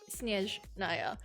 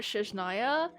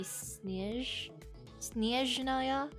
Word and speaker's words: Snezhnaya: And then they were like, it's actually not SNEZHNAYA. That is another way to pronounce it, but it's in a different language. In the actual like Russian way to pronounce it, it would be SNEZHNAYA or something.